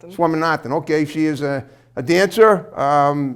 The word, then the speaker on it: Swaminathan: Swaminathan? Swaminathan.